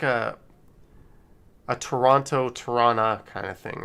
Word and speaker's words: Toronto: is like a a toronto tirana kind of thing right like usually people from toronto don't say the second t paranormal witness girl says